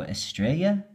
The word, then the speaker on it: Estrella: I'm assuming it's a Spanish sort of pronunciation, so the double L will be ya. So Estrella.